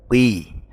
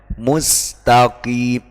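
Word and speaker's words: مستقيم: Seperti kui, itu tidak boleh. Semisal kui, mustaqim, taqim itu tidak boleh. Oim tidak boleh. Jadi yang benar mustaqim, taqim gitu. Mustaqim gitu.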